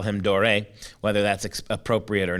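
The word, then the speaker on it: Doré: So we've been looking at all week at Gustave Dore. Now, let me clarify something. Dore is something that, for some reason, he has become known by the last name Dore.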